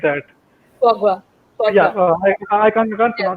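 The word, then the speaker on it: foie gras: It's called Fulgra or something like that. Fogwa. Yeah, Fogwa. I can't Yeah.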